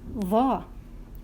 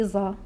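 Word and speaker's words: ظ: And this letter is va. Va. Don't say za. Don't say za. No, you have to make your tongue out. So you have to pronounce va.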